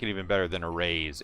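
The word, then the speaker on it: Arráez: Aaron judge I didn't know his name is pronounced arise arise I like it even better than a raise it's arise I was watching the Twins game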